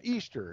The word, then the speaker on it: Ishtar: rammus Ishtar Ishtar yeah Easter is how you pronounce it actually it's spelled Ishtar but it's pronounced Easter that's right did that